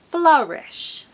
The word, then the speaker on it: flourish: any consistency sorry about that it's actually an a sound like an umbrella U I've often called it that before in my previous videos so I have names for things and that is my name for that sound umbrella U so it's an a sound the same sound as the a in umbrella flourish flourish number five